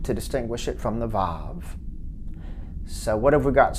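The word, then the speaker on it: וָו: next letter is and usually we say that that makes a a v sound vav although an alternative pronunciation is a w sound wow next letter is zion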